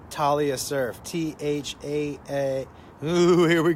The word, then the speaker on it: Thalia: T-H-A-L-I-A. Talia, I think is how you pronounce it. Not Thalia. Thalia. I think it's Talia.